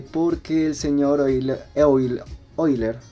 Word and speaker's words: Euler: el señor ávila ávila oyler se pronuncia hoy la gran matemático dio